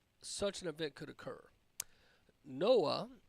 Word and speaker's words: NOAA: an event could occur Noah is what it's called Uh or pronounced but the National Oceanic